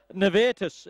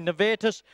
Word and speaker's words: Nevetus: nice win and uh nus is the correct pronunciation Jane tells me netus uh nice little win